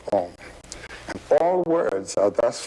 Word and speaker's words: Om: It's written A-U-M. You start in the back of the mouth, ah, and then oo, you fill the mouth, and closes at the mouth. And when you pronounce this properly, all vowel sounds are in that pronunciation. And consonants are regarded simply as interruptions of Om.